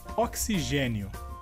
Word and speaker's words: oxigênio: A próxima palavra seria, em espanhol, oxígeno, e em português seria oxigênio. E a diferença seria que na palavra em espanhol a sílaba forte seria xi, e em português a sílaba forte seria g.